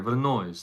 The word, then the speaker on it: brunoise: That's the American way. But there's a French way of pronouncing it. That's not how the French pronounce it.